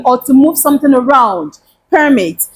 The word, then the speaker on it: permit: to move something around permit and what about permit permit is to allow to happen to Grant permission when you allow something to happen or when you grant someone permission to do something that is a verb